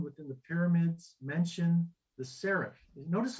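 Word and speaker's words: sareph: And serif in Hebrew is, well, when we transliterate it into English, is S-A-R-E-P-H, serif. Yep. But again, you wouldn't see it, you wouldn't hear it any different, though it's spelled a little different.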